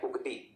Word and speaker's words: उगती: छत्तीसगढ़ी में क्लियर रखना, इसको बोलते हैं उगती। किसी किसी में उत्ती करके लिखा होता है ना, याद रखना, ठीक। तो हम लोग उसको क्या बोलते हैं, उगती करके। प्रोनाउंसिएशन में हो सकता है उत्ती भी लिखा रहता है, तो थोड़ा सा ध्यान दोगे, ठीक है।